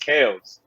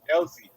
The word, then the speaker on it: Kelce: So it's technically pronounced Kels. So will we be doing that? I mean, I just gotta know. Like it just sounds weird because we know the guy as Kelsey. You know what I mean? But technically it's pronounced Kels. Like Kells, but Kels.